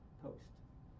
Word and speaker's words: Prost: It's called, it's spelled Prost, but it's pronounced Post.